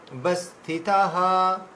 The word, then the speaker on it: অবস্থিতাঃ: তারপরে যথা ভাগা মাবস্থিতাঃ, এখানে থয়াকার আছে, ভয়াকার আছে, দীর্ঘ, তাহলে যথা ভাগা, যথা ভাগা মাবস্থিতাঃ, এখানে যে ব রয়েছে এই দীর্ঘ হবে, বস্থিতাঃ।